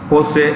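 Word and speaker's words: José: Its CEO, you write, is Jose Antonio Alvarez. Simply write Jose Alvarez. It's pronounced with an H. Jose Alvarez.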